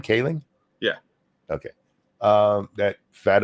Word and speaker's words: Kaling: Mindy Kaling is that I say her name Kaling yeah okay um that fat ugly chick from